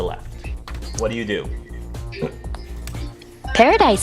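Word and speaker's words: Paradice: di c e okay oh so emphasis on the ice then yes PA ra di see paradise and of the hive mmm to the left what do you do Paradise sounds fun yeah I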